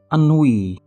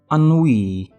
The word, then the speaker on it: ennui: ennui has two syllables and in British English we pronounce it as ennui ennui ennui and in American English we ennui means feeling really bored or a bit tired of everything.